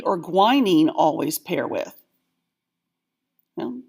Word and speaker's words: guanine: And this one's always weird because the U is pronounced guanine.